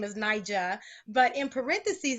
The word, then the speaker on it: Nija: Nyjah but in parentheses it says Nyjah not ninja so explain that share with the listeners and humorous on what it is why you put not ninja absolutely so of course my name is spelled in AI J a but for some strange reason people have always decided to insert a second in so from kindergarten on